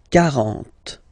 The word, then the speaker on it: quarante: Okay, so same rule as previously, as for 4, okay? 40, quarante. Ok. Quarante et un.